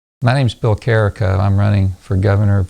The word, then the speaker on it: Carico: Carico has one R, and it rhymes with Jericho if you have trouble pronouncing it.